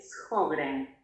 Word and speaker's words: Sjögren: Liz nos escribe y dice, tengo síndrome de Sjögren. Creo que se pronuncia así.